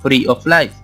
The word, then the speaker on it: free of lice: Esta frase significa, de manera literal, libre de pulgas, el cual se pronuncia free of lice.